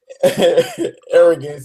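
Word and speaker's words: Aerogents: Anyway, arrogance is spelled AERO, capital GENTS.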